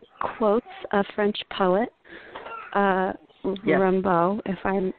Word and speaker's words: Rimbaud: Rimbaud, if I'm pronouncing Rambo. It right. That's right. Rimbaud, got it.